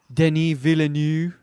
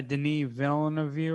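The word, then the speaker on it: Denis Villeneuve: you say his name denis villanue whatever whatever it is not very good with french canadian but yeah denise villain of you or something he's french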